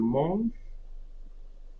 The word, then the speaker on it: mange: Okay, so je mange, I'm not pronouncing the E.